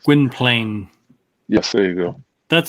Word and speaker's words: Gwynplaine: Gwen, I can't pronounce. Gwynplaine. Yes, there you go. That's the way I say it. Gwynplaine.